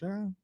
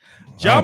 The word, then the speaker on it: Ja: Is it Ja? I was gonna say Ja.